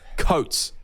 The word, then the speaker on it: Coates: The Storm were a Xavier Oates try away from Coates. losing. You get his name. You keep on getting his name wrong. Coates. Xavier Coates.